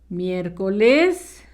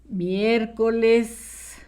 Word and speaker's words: miércoles: Miércoles, acento en la primera letra E. Miércoles.